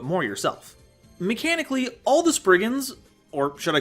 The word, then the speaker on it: spriggan: Spriggans, or as I learned how to pronounce them in research, Spriggans, are fairies of Cornish